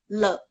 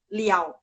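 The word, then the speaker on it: 了: Bahasa Mandarin ada huruf Mandarinnya sama, tapi bacanya berbeda, ada, dan artinya berbeda. Contohnya, le.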